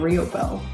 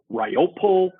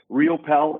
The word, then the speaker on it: Riopel: with that mega because i get all the different pronunciations like ryopol ripple and so rio pal is dead on i am